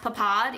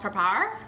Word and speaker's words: papad: budget Eats episode that it's not pronounced papad even though it's spelled like p a p a d it's called papar or something like that